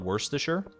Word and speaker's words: Worcestershire: pronounced and why what Worcestershire it's just pronounced that way it's like you gotta separate it like uh like w-o-r-c-e worse um s-t-e-r stir and then s-h-i-r-e sure or Shire I guess but in that case